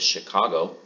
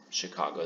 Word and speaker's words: Chicago: the name is that it's spelled with a CH but pronounced like an SH so why is that